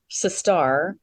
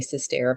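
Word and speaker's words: Sisstar: I'm a star, not a stair. I hate when people say sis-stair, but it does kind of look like it's pronounced like that. Okay. It is sis-star.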